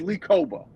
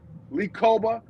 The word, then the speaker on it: Kpogba: plays at linebacker is Lee Koba. Lee Koba, first of all, his name is spelled Kpogba. It's weird the way it's pronounced, but he is a stud.